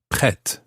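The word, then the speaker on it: prêt: e circumplex t now the t at the end is silent like most t's at the end of most french words pre but in the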